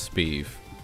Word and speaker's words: Sbeev: verge of completing this how do you correctly pronounce my name it's just speeve it's so it's a star wars reference so palpatine's first name is shiv and i replaced it with a b it's kind of there's